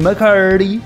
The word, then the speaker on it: McCurdy: Sí, así se pronuncia, McCurdy, porque es McCurdy.